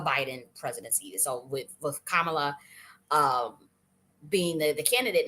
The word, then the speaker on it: Kamala: saying her name because I just found out that I was pronouncing her name wrong is Kamala or I was saying Kamala so I guess it is Kamala um so uh um